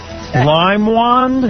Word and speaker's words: Leinwand: Limewand? Leinwand. Now we know again? why you didn't mean it. Mine want what? Spell that?